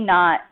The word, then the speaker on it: naught: it has this middle, it's pronounced V naught T. That little sub-zero is always pronounced not, like when you tie your shoe in a knot.